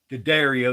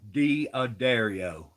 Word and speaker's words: D'Addario: You young fellas out there, it ain't called D'Addario, it's called D'Addario.